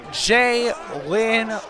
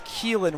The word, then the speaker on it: Keelan: Jalen Robinson, the running back 3, getting absolutely hyped up here. I've been saying his name wrong the entire time. It is Keelan Robinson.